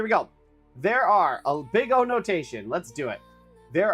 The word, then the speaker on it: big O: big O analysis pronounced big O not big zero which is only funny because I guess the